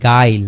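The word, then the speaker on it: guile: আছে হচ্ছে এই জায়গায় ঠিক আছে তাহলে তার উচ্চারণ কি হয়ে গেছে আই এর মত হয়ে গেছে একইভাবে জি ইউ আই এলই গাইল গাইল মানে কি ছলনা বা ফাঁকি দেয়া আর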